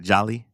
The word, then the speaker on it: Joly: Joly? Yeah.